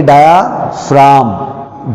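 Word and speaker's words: diaphragm: आप देख रहे हैं मैंने इसमें जी लिखा है क्योंकि इसकी स्पेलिंग में जी लिखते हैं, बट जब हम इसको पढ़ेंगे तो हम जी नहीं पढ़ेंगे, तो हम इसको पढ़ेंगे डायाफ्राम। जी हमें नहीं पढ़ना, ठीक हो गया?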